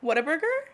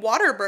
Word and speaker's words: Whataburger: Whataburger? No, you're pronouncing the H too much. Whataburger? No, wait. No, like, that was way too much. It's Whataburger. Whataburger. No. Whataburger. Like, you almost said, you're saying Whataburger.